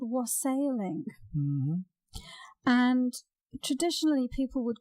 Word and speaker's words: wassailing: here with the pronunciation we pronounce it here is wassailing rustling and yes and the